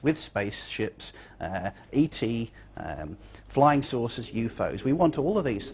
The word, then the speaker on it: UFO: You'll notice that in the story, the term UFOs is pronounced UFOs. We usually say UFO.